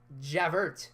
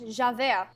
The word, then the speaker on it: Javert: Javert. Okay. I call him Javert. That's how he's spelled. It's spelled Javert. I understand, but it's French. Javert.